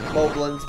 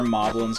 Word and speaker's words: Moblin: Moblins, but I don't have the best track record with pronouncing things in Zelda games correctly. So I think they really are Moblins, kind of like goblins, but I've been saying Moblins all my life, so.